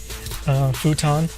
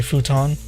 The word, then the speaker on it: futon: Futon is another word. People don't say futon; they say futon. You know, just like quickly, like futon.